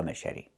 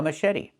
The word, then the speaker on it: machete: Pronunciation. Machete. Machete. The ch makes a soft sh sound like in fish. Mush. And then Eddie. The t makes a fast d. Machete. This is a machete.